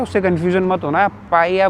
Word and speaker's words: paella: उससे कंफ्यूजन मत होना पाया बोलते हैं पाया मतलब यहां पे जो एल होता है ना वो साइलेंट होता है वो प्रोनाउंस नहीं करते हैं। जैसे मैंने आपको कासा मिया दिखाया उसका नाम एम आई एल ए है। बट एल साइलेंट है। तो पाया में भी पी ए इ एल एल ए बट उसको पाया बोलते हैं।